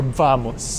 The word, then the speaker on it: vamos: Vamos or vamos? Vamos. B or V? B. B. B. Vamos. Ah, okay. In Spain, the V is pronounced B and the B is pronounced B.